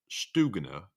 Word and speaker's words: Stugna: you weren't getting them slavic languages do not have a short u sound as in tug the u is the same as in putin pronounced stugna accuracy counts well i thank you